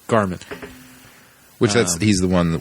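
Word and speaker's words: Gharman: Oh, yeah, the H is silent. Garmin.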